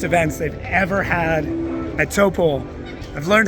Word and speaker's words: Taupō: This is one of the biggest events they've ever had at Toppo. I've learned how to pronounce it. It's to poor. So toppole.